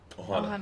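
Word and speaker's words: ʻOhana: Is it Ohana? Ohana. Yeah. That's how you say it, right?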